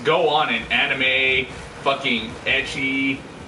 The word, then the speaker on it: ecchi: Seriously, I've seen some shit just go on in anime, fucking ecchi, or eki, as some people like to mispronounce.